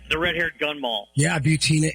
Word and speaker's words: Butina: redhaired gun Mall yeah butina and it rhymes with subpoena it does very good